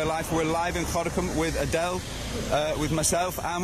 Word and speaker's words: Gorinchem: Gorinchem. But don't speak it like a Boutenlander. But you say Gorinchem. That's it. Speak it like a local.